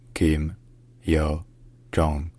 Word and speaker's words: Kim Yo-jong: In Korean, her name is pronounced Kim Yo-jong.